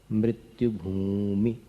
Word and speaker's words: मृत्युभूमि: मृत्युभूमि मृत्यु पूरा बड़ी ऊ की मात्रा नहीं बोलने की है। मृत्यु भूमि। फिर पतिम विना भूमि ये भी दीर्घ नहीं बोलना। मृत्यु भूमि पतिम विना ऐसा बोलना।